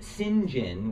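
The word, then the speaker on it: St. John: you can follow along um sinjin which is spelled saint john is one and he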